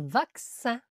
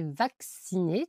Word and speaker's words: vaccin: En général, c'est de C comme dans vaccin. Je me suis fait vacciner, tu vois, il y a deux C. Donc ça fait le son X vacciner avec succès.